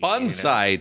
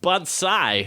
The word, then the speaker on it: bonsai: Bonsai tree. You make It's the cuts. pronounced bonsai. Bonsai. That's how we did it in Okinawa. Not bonsai.